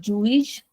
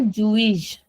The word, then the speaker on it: juiz: And when any word ends in the letter Z then the sound of that Z the last Z is very soft. So we say Jewish.